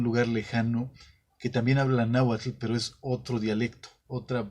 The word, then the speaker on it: náhuatl: Entonces, la manera en que yo lo pronuncio, náhuatl, se les hace igual a los náhuatlactos, se les hace igual de incorrecto.